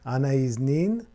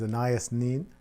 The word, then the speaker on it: Anaïs Nin: of her name is Anna is mean which I was told was more of a French pronunciation in English she's often known as Anaya Sneed and oh yes I